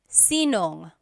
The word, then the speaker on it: sinong: If you have sino ang in a question, you might hear sinong. So they put it together.